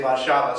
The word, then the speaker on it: Warszawa: Again, they pronounce W's in a V sound, and I now just automatically say Warszawa, so I'll keep saying it. Warszawa, Warszawa, it's not Warsaw, it's Warszawa in my mind.